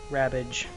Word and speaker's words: Rabbage: Rabbage, which rhymes with cabbage.